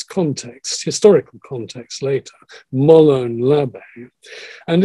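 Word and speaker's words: Μολὼν λαβέ: Now, that's the way the Greeks pronounce an ancient Greek phrase, Molon Lave.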